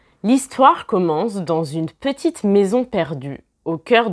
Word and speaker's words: dans une: Vous remarquez ici que je prononce en fait comme si c'était un Z. Je ne dis pas dans une, mais je dis dans une. Donc en fait, le S muet devient une forme de Z.